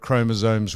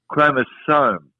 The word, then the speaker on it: chromosome: It's chromosome, S-O-M-E, not Z-O-M-E. You call it chromosome.